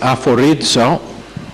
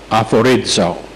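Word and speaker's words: aphorizo: Es una palabra que es aforizo, A-P-H, que se pronuncia F, como el F, A-P-H-O-R-I-Z-O, aforizo.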